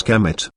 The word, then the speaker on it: Kemet: the desert this name is commonly vocalized as Kemet but was probably pronounced in ancient egyptian the name is realized